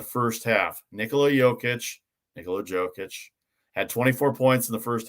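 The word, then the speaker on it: Jokić: talking about joe kid jokic uh i go with jokic i believe that's the way he wants to pronounce it but either way he's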